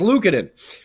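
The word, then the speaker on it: Luukkonen: you're correct am I saying it right yes Lucen um he made a he made a Dandy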